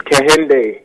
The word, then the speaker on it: KHNDY: now you're are you originally from London town pronounced I came for me it's candy okay it's a certain name for a twin